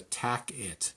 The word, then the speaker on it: TAC-IT: It's called the TAC-IT. T-A-C, pronounced tacit.